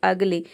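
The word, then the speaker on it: ugly: अ pronounce करते हैं जैसे कि अगली यहां पे देखिए यू का अ हो जाएगा जी का हो जाएगा आधा और एल वाई ये हो जाएगा ली ये हो जाएगा अगली अगली का मतलब होता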